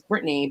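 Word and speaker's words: Brittnay: i'm from the show my name was spelled um b-r-i-t-t-n-a-y uh so my full name is brittany but it's spelled phonetically britney and that annoys me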